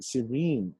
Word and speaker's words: serene: Okay, the second vowel in the first word, okay, is long, serene, in. The same vowel in the second word is short, serenity, serene, serenity.